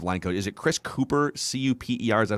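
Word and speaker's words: Kuper: the vikings offensive line code is it chris cooper c-u-p-e-r is that how we pronounce it that's correct so they've spent some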